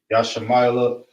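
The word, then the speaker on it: ישמעאל: Ishmael in Hebrew is Yashamayla.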